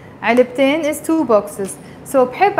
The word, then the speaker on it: علبتين: is one box, علبتين, you pronounce the T مربوطة when you add the N, علبتين is two boxes, so